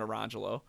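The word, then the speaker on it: Orangejello: It was spelled Lemon Jello, Orange Jello, but they were pronounced Lamangelo and Arangelo.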